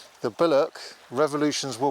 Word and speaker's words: billhook: which is the the bck and you don't pronounce the h the bck revolutions were W with